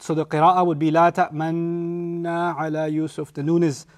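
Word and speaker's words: لا تأمنّا: And then they say, La ta'manna ala Yusuf. This is I squeeze my lips as I said la ta'manna like that, because that's the pronunciation rule in Hafs.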